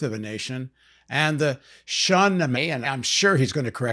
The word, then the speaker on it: Shahnameh: Shah means king. Shah. Nameh means book. Shah Nameh, the Book of Kings. Simple.